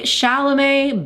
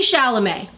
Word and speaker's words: Chalamet: is this whole Timothée Chalamet ballet debacle that we need to talk about. Isn't it also ironic that his last name is his last name and it kind of rhymes with ballet?